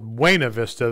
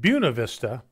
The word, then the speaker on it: Buena Vista: we could tell outsiders because they'd call it wayna vista they'd used the actually correct pronunciation but those of us that lived there the Navy's we called it Buena Vista and no no no